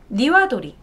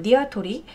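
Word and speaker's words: にわとり: 왜냐하면 국립국어원에서 표준국어대사전에 따르면 닭도리탕은 닭에다가 가운데 니와도리, 니와토리죠. 정확히 발음은 니와토리, 니와토리와 탕에 그런 구성된 단어로 가운데 니와도리가 일본어기 때문이다라는 거죠.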